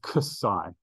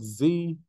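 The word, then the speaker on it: xi: name of this letter isai now it is Cai some people pronounce it Z sure whatever do what you like honestly say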